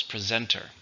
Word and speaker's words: presenter: a job how many syllables presenter three stresses on the second we have two presenters